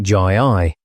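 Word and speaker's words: Gy-ei: It forms itself into Guy I for the plural, but the G becomes soft in the plural like Jai I.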